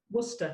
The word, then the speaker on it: Worcester: so Worcester. What is it? Worcester. Worcester, like the sauce.